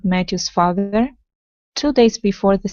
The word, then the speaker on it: Matthew's: good next up is Matthews so that that name is going to have a th sound in the middle as well so it's Matthew's father Matthew's father Matthew's